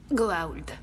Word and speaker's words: Goa'uld: Puis d'évaluer la menace des Goa'uld, c'est bien ça? Pardonnez-moi, mais je dois vous reprendre. Il y a une apostrophe après le A, juste avant le U, et ça se prononce... Goa'uld.